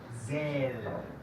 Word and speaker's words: Esel: Otra palabra, Esel. La primera es cerca a la I. Esel. Okay. La segunda es más cerca a la E.